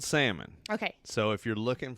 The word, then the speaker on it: Salmon: It's spelled salmon. Okay. So if you're looking for me online, Salmon, like the fish. That's how you do it.